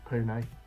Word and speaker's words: Pune: It's Pune.